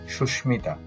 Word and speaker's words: সুস্মিতা: সুস্মিতা, এখানে দন্ত স্বরের সাথে মটা যুক্ত ছিল, সেই মটা উচ্চারিত হয়েছে সুস্মিতা।